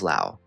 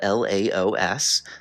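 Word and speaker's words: Laos: often overlooked country of Lao and yes this country is spelled l a oos but the S is silent for anyone curious about the correct pronunciation but interesting facts aside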